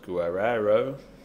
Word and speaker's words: Guerrero: big fan of Robert Guero uh not least because of his name really should be pronounced Guerero uh doesn't yeah but